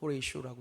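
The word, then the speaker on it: Horatio: 이름은 호라쇼 스페포드라는 사람입니다. 호레이쇼라고 읽기도 하는데요, 이분은 믿음이 너무 좋았어요.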